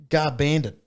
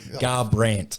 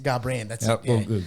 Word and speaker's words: Garbrandt: it no i'll fix that for you cody guard bandit garbrandt garbrandt speaking of pronunciation too um i was very under the